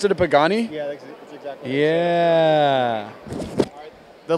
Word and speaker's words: Pagani: Is that how you pronounce it, a Pagani?